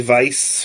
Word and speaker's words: Weiss: stage magician named Ernie Vice or Weiss depending on if that W is pronounced as a v I like to say